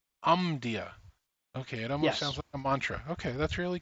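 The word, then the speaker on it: Omdia: market and tracker and how do we pronounce that again tell me so that I'm aware of it is um dear um dear ok mantra ok that's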